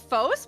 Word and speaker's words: Fos: Well, it it comes from the Greek the Greek word for light which is pronounced fos.